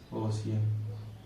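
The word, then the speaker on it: ocean: जैसे OC, अब सी के बाद क्या आ रहा है, EA आ रहा है ना। इसको क्या पढ़ेंगे, ओशियन। ठीक, इतना चीज सफिशिएंट है।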